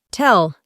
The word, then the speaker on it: tell: En el presente usamos tell, aunque lo escribimos con dos L, solo pronunciamos una.